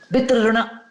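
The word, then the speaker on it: पितृऋण: And a Marathi movie, forgive my pronunciation, is it Pitrurun or Pitruru? Yeah. Pitruruna. Pitruruna. So when you watch yourself, were you happy with your performance?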